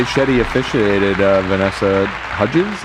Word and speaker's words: Hudgens: Shetty officiated Vanessa Hudgens. Is that how you say it? Hudins. Hudins her wedding.